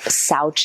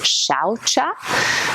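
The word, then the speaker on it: śauca: first of the Neon most often um called SAA the pronunciation actually is shaa you probably won't hear that very often but you'll see in the slide there's a little diacritical Mark up that s so shaa which is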